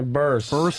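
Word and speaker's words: Burress: How do you say Barras? Barras? Yeah, Burris.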